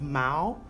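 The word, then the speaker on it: 毛: and but it also means like mao it's pronounced mao and that's like the monetary unit for um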